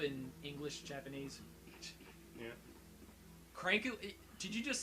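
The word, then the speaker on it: クランク: That's how you say it in Japanese.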